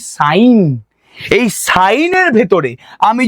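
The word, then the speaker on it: sine: প্রথম মেশিনের নাম হচ্ছে এস আই এনই যাকে আমরা উচ্চারণ করি সাইন।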